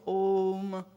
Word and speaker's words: Om: in the intonation of ohm ohm hazard three Matra in it it's made of three syllables ah-ooh as firm and open